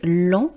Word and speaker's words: lent: Et donc il est important, vous voyez lent l. Je ne prononce pas la dernière consonne, par contre lente, L e N T E, je prononce parce que c'est au féminin.